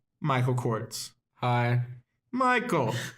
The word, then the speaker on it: Corts: it's not Z. It's not Cortez. I'm not Hispanic. At least I don't know. But there's no E.